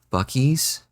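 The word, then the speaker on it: Buc-ee's: For them, is it like Bucky's?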